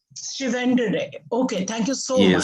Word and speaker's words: Chiwandire: Now, our third speaker is. Am I saying it right? It's Chiwandire. Chiwandire.